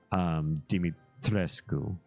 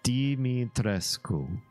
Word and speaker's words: Dimitrescu: And having friends who speak Romanian in high school, I look at the name and I say, that's obviously pronounced Dimitrescu, right?